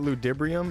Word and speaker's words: Ludibrium: I found out that Ludibrium is just Latin for time. And that it is absolutely pronounced ludibrium with like an emphasis on the D.